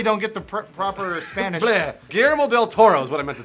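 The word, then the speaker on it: Guillermo del Toro: GML del Toro is what I meant to say.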